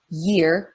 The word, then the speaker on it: year: So as in year, Y-E-A-R, is a glide. And so I think about literally gliding around on the snow or on the water. It's just like my tongue moves up, and it glides down during the sound.